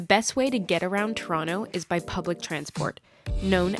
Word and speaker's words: Toronto: Pronounced Toronto, not Toronto, otherwise known as the Six.